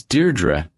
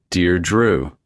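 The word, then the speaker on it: Deirdre: How do you pronounce your name? It's Deardra. Dear Drew, it's Irish.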